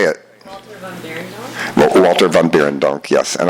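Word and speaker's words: Walter van Beirendonck: Walter van Beerendonk?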